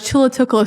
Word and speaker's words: Chulatvklo: So a lot of times when the words are anglicized, the U and the V's are interchangeable.